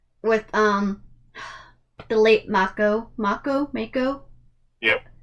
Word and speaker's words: Mako: We're focusing mostly on the first 4, with the late Mako. Yep. How do you pronounce his name? Mako.